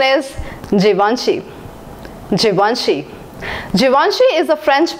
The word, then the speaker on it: Givenchy: you what do you think it should be pronounced as Givenchy or given sheep both are wrong the right pronunciation is Givenchy Givenchy Givenchy is a French brand and it